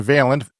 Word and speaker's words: Vaillant: is called fire weather the author is John veent it is spelled v a i l l a n